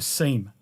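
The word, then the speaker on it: SIEM: event management solution or a seam or a sim depending on how you say it you've also got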